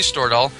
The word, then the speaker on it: Stordahl: And so with us today is Lindsay Stordahl. Am I pronouncing your last name correctly, Lindsay?